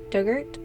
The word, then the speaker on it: Durgat: Pronunciation Dug, like the past tense of dig. Ort rhymes with ert. Oh, so Dugert?